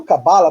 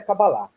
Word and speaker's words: cabala: a pronúncia correta é cabalá, mas durante muitos anos falando cabala, a gente custa um pouco né? Então, às vezes eu falo cabala, às vezes eu falo cabalá.